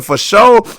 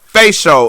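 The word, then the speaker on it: fasho: is at Sugar darkerton f-a-s-h-o pronounced sugar for show not facial it is sugar nuggets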